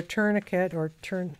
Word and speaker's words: tourniquet: You mentioned a case where a tourniquet is that how it's Yeah, pronounced?